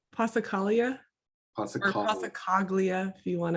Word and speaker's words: Passacaglia: How do I pronounce it? I don't want to get it wrong. Passacaglia? Or Passacaglia, if you want to. Passacaglia, I like that better.